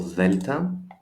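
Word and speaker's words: δέλτα: So delta, delta, father, theta, theory.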